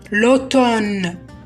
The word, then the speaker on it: automne: الخريف l'automne, l'automne. ننطقها l'automne لأنه الآم لا ينطق، lettre muette أو حرف صامت.